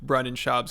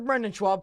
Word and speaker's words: Brendan: He's a homeless cat and a big fan of Brendan Schaub's comedy career.